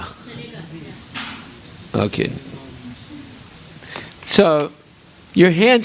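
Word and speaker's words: चलेगा: Kukum Chalena?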